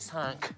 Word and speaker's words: cinq: Cinq. Cinq, OK, here we go, cinq. Oh, squeeze it round there. And that's another nosy sound, isn't it, cinq? Yes, it is. Cinq has a nasal sound again.